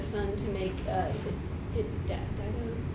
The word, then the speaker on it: Dido: It's actually Dido. Dido. But it's a long I in the Latin, which would be Dido. But we have a long I in English, and so people mostly say Dido. You can do either one. Dido is more familiar. People recognize it by Dido.